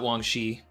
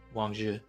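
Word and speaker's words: Wang Zhi: It's not Wangxi, you don't pronounce the I, Wangzhi, and Blackbeard's involvement.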